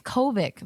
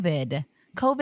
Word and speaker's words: COVID: Because she kept saying it wrong, and I'm like, she says Covic the whole time, and I'm the whole time COVID, and then the coronavirus.